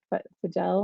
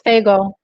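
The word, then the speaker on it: Fagell: pronounce her last name is it fidel it's faygo thank you thank you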